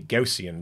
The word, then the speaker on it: Gaussian: tim that is great advice gauss rhymes with house so this is a gaussian blur i'm going to say it like that from now on and if